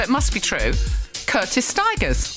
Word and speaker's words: Stigers: Curtis Stigers rhymes with tigers and he knows everything.